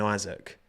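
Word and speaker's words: Isack: Um, and he's Yeah, he pronounced his own name as Isaac. Isaac. So, yeah. No, it's it's definitely it's definitely Isaac.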